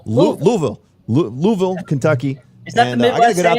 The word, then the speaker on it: Louisville: Louis I know how to pronounce it. It's Louisville.